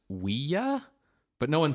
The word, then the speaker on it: Ouija: Cyrus actually is his son to be like, the name Ouija comes from the French word for yes, oui, and the German word for yes, ja.